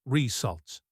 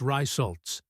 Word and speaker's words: results: "That word is results. Again, the stress is on the second syllable, and the RE sound at the beginning is more like the short I sound in sit, not the long A sound in day. So, it's results," Stefan repeated, focusing on the new sound.